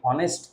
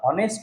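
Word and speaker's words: honest: এইসটি অনেস্ট বলি না। যদি আমরা হনেস্ট বলতাম এইচ এর উচ্চারণটা যদি আসতো অনেস্ট বোঝাতো তাহলে আমরা কিন্তু এ করতাম।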